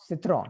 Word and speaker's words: citron: सिट्रॉन, ठीक, साइट्रॉन है, English की तरह प्रोनाउंस नहीं करना है, सिट्रॉन।